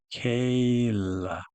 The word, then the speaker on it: Michaela: Zachary Michaela You can tell it's long A sound with the Y after it. I believe it's Michaela. Michaela X-O Man Michaela Michaela That's correct though.